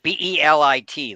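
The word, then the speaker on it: Bêlit: Yeah, Belit, like Bellet.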